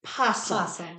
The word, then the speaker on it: opossum: Carrie's family makes fun of me for saying opossum and not just possum.